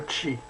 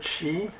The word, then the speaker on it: qi: monde dans son entier c'est le cheat ça s'écrit QI le tchi le chi qui est l'énergie fondamentale